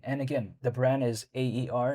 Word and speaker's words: Aer: And again, the brand is AER, it's spelled Air.